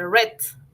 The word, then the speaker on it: read: en futuro pues no en este caso el caso de r su pronunciación en pasado se dice red si red como el color red my brother read two